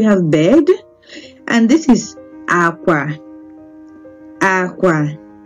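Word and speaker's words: àkwà: If you listen to the way you pronounce it, it's low. That means it is low, low. Okay, L, L, low, low. Okay, they are both low pitch tone.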